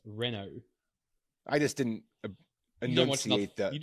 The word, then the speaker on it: Renault: Reno Renault how do you say it it's pronounced Renault right Renault Renault yeah it's Renault I just didn't anate you just don't watch